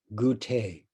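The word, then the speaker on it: Gutei: In Japanese, his name is pronounced Gute.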